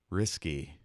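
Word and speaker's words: risqué: Risky. Risque. I was gonna say risky. That's how it's pronounced.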